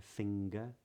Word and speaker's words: finger: the majority of instances the NG is pronounced with a g with a hard G yeah finger anger but when it's